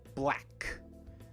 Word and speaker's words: black: japanese would be right so we don't want the boo sound at the beginning we want not boo black black try it again good